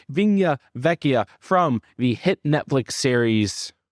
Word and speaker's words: Vigna Vecchia: Locke and our review avina betcha excuse me I just mispronounced it again Restaurante vinya Vecchia from the hit Netflix